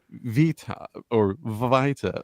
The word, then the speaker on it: Vita: I believe, Jimcollector and Vita, or please tell me how do I pronounce it? Vita. It's Vita, like vitamin. Vita. Exactly Okay. like But I said to you earlier, Vida is fine.